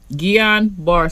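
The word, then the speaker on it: Guillain-Barré: this okay this is how you say it guillain-barre syndrome all right so johnson and johnson like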